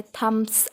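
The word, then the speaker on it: thumb: थम, जैसे थम्स अप, ऐसे हमने बहुत एडवर्टाइजमेंट में भी देखा. देखो वहाँ बी नहीं रहता, ब नहीं लिखा हुआ रहता, या ब का प्रोनाउंसिएशन भी नहीं रहता. थम, अंगूठा.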